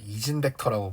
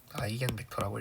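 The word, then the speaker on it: 아이겐벡터: 아무튼 이제 어 누군가가 이거를 이진 벡터라고 불러서 제가 상당한 충격을 받았는데 이진 벡터라고 읽는게 아니라 아이겐 벡터라고 읽으면 되고요. 아이겐 벡터 아이겐 밸류 아이겐 벡터라고 읽으면 됩니다.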